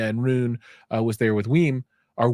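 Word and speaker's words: WiiM: Rune was there with Weem or Wim. I've been saying it wrong. It's not Weem, it's Wim.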